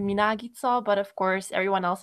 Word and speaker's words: Minagica: In Hungarian, it would be Minagica, but of course, everyone